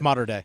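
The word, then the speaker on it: Mater Dei: school he transfers to Mater D Moder day I don't know how to pronounce it's mod day uh it is one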